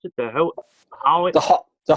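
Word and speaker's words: Hoix: How'd you pronounce it? The Howard? The Hawks.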